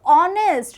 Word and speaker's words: honest: pronounce this word then what is the pronunciation the pronunciation is honest right so in the beginning we are having all all sound so it's a vowel sound and this is the